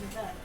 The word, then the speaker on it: Nevada: You mispronounced Satan's butthole. Yeah, the state that is a testament to mankind's arrogance. Nevada? It's Nevada.